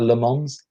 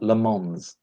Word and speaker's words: Le Mans: it le man or le mans you don't pronounce the s at the end don't pronounce yes no